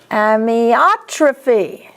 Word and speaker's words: amyotrophy: Amyotrophy. OT is the accent.